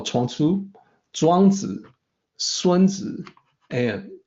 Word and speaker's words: Sunzi: That's the correct pronunciation for what we call Chuang Tzu, Zhuangzi, Sunzi, and Kongzi.